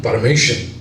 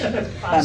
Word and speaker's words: Parmesan: And those who like eggplant would look, wow, eggplant Parmeshon. Did I pronounce correctly? Yes, Thank you so much. Parmesan.